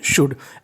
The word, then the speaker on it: should: SHOULD, इसे हम लोग पढ़ते हैं शुड, क्या पढ़ते हैं, शुड।